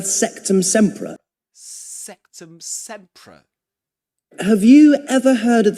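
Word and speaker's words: Sectumsempra: This is septum sea. Sectum sea. Sectum sea. Right. Sectum. There's a schwah there in the second syllable.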